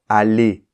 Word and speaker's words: aller: va dire bonjour ok c'est la même chose qui se passe dans le verbe aller et tous les verbes à l'infinitif en er le E et le r se combinent ensemble pour former le son e c'est pour cela queon entend pas le r parce qu'il participe à la combinaison ok il y a